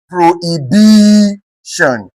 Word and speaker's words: prohibition: Prohibition, prohibition. Here we have what? HI being stressed. Here we have BI being stressed.